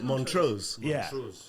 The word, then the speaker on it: Montrose: so the thing is montros is named after montos in Scotland which is montos not Mon montos it's montos some of